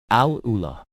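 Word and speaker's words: AlUla: Al Ula, pronounced correctly, is in Saudi Arabia.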